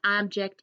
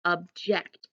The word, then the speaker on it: object: day is object and it's not object even though it's spelled the same it's object and it's a verb and it says when